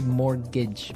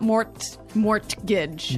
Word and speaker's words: mortgage: Yeah, it has a T in it, but you don't pronounce it. You say mortgage. Mortgage. So, not mort mortgage.